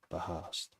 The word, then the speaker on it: Bahast: It's not, is it Bahast? 2 syllables, not one syllable. Bahast.